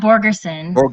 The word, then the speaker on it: Borgerson: No, that's not Scott Bergeron. Scott Borgerson, if I'm pronouncing it right.